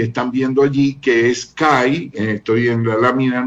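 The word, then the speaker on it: καί: Estoy en la lámina número 10 y encima de la raya blanca ustedes pueden ver ahí la palabra kai, que se pronuncia que, y la palabra nesteia, que es esa otra palabra subrayada con la línea blanca.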